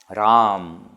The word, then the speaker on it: Ram: So Ram, when you say, there are three syllables, R, A and Ma, Ram.